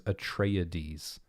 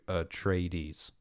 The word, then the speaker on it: Atreides: Frank Herbert says Atreides. Atreides. It's like 4 syllables as opposed to Atreides, you know?